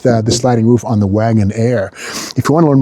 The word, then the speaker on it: Wagonaire: And again, wagon air spelled with an E. Very stylish. Wagon Air. A I R E.